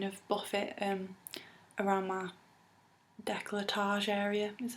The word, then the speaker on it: décolletage: I can kind of buff it around my décolletage area, is how you pronounce it, and along my shoulders and my neck, and it just makes it really quick and easy.